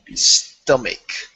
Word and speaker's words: stomach: remember this word here I know it ends with the CH but you want to pronounce it like a k stomach stomach can you repeat